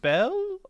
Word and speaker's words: Bel: Is it or Bell? Bell? It's Is just it? Bell. I thought it was, How you spell it, I Josh?